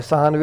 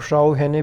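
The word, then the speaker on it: Sawhney: सहानवे आपकी जो भी प्रोनाउंसिएशन है उसके हिसाब से आप इसको बोल सकते हैं, और शाओ हैने भी बोल सकते हैं।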